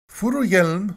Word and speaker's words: Furuhjelm: the sun is and I have it on decent Authority that this is how you pronounce it furu Yelm 46 Ragnar furu Yelm